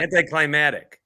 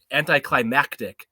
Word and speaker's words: anticlimactic: do say it wrong uh anti-climatic nope you have to say there's an you have to hit the X on climax anticlimactic you have to hit like a CT climactic anticlimactic but if you like